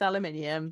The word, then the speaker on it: aluminium: And now it's aluminium because that's the right way of saying it.